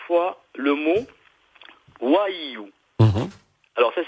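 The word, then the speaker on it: Vhaïyû: il va falloir dire 3 fois le mot Waiyu. Alors, ça s'écrit V-H-A I tréma Y U accent circonflexe. D'accord. Et ça se prononce Waiyu.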